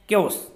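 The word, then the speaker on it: chaos: है, ये देखिए आप, इसकी प्रोनाउंस ये होगी, प्रोनाउंसिएशन केओस।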